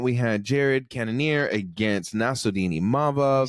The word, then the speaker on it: Nassourdine Imavov: So the main event we had Jared Cannonier against Nassourdine Imavov.